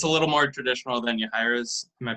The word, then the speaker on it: Yahaira: It's a little more traditional than Yahaira's. Am I pronouncing that right?